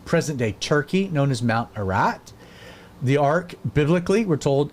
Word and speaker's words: Ararat: mountain range located in present-day Turkey, known as Mount Ararat.